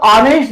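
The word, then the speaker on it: honest: यहां पर ऑनेस्ट जो ईमानदार शब्द दे रखा है, इसमें ए साइलेंट है। अगर इसको हम ऑनेस्ट कहते हैं, बिल्कुल ये रॉन्ग साउंड है।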